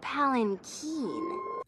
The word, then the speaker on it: palanquin: The palanquin. Actually, it's pronounced palanquin.